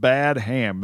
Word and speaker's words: Badham: days, but the director here is named John Badham. How do you say his name? I would go with Badham, Dave. I don't know. It's spelled Badham.